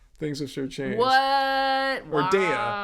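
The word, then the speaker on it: Daiya: Dea. That's the pronunciation.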